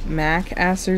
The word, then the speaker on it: Macaster: there I do think I'm Gonna Change Mac Aster to macaster since I am already just pronouncing it like that like Old MacDonald MC Aster now he's a farm